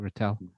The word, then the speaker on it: Ratel: the who runs retell c seo am i pronouncing it right ratel okay that's right yeah so darren and i